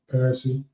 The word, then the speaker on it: Parisi: I said his name wrong. Parisi.